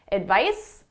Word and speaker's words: advice: difference between a mmm the S is at my lips it's unvoiced the the Z is in my throat my vocal chords are engaged it's voice advice advised advice advice so the pronunciation is very different so now you know